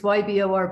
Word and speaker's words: Ybor: best i could so was that orba city ebore ebor e spell it then for me ybor it's yeah even it's it's ybor but they pronounce it war city keyboard okay wanted to